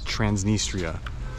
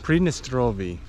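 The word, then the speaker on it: Pridnestrovie: driver here inside transnistria they don't call it Transnistria it's a predestinal previous nope how do you say it predestrovia prednestrovie okay so Tiraspol is moldova's second largest city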